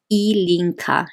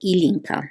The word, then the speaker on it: Ilinka: I totally understand uh the way you say my name is elinka so ilinka that's how you say